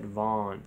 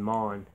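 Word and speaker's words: Maugham: good story of Human Bondage by W Somerset Vaughn I mean Mon and may ugh a.m.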